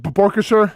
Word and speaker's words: Borkircher: Hamby, is that how you say it? Borkircher? Yep.